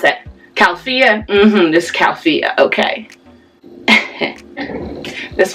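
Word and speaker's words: Califia: I know how to pronounce it. Calfia.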